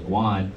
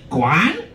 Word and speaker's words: Guan: friend's wolf wife said how to pronounce your last name I said it was Juan and all she heard and said was wait is it pronounced Dan Quan and I'm like [